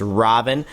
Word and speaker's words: Ravana: God Robin and uh you don't pronounce the a at the end of the name I guess it's a sign of respect so I've heard so I won't do that it's Robin but you could see